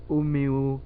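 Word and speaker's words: Umeå: Donc, nous te remercions d'avoir donné ton avis sur Omeo University, c'est ça? Oui, Ça c'est ça. s'écrit avec donc le A, tu m'as dit que ça se disait O.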